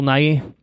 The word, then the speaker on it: Nighy: I really enjoyed, on a side note, I really enjoyed Bill, how do you pronounce his last name? Nighy? Bill Nighy.